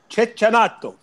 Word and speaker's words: Cecchinato: Djokovic against Cecchinato. Now, Alex, I know you don't like my pronunciation. How do you pronounce this? Cecchinato.